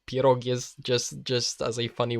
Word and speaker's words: pierogi: what do you say you know you know pierogi that's how you pronounce that but I I really like how